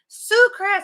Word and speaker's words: Sucrets: Sucrets.